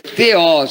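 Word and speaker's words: θεός: grega para Deus é teos o nominativo singular masculino de segunda declinação não é teus é teosa pronúncia de acordo com a pronúncia erasmiana Cambridge teos e é uma palavra traduzida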